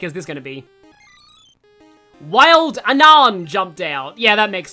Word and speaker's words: Unown: Unown caught! But yeah, I was saying, like, I didn't like that the third movie pronounced it unknown. Like, just like the English word unknown.